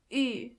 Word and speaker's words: ü: To get the sound, start with a normal U and then make your lips even closer to each other. Ü.